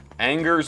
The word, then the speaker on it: Angers: Angers, BC. I'm going to say that that one's real as well. Correct. And and here's the thing.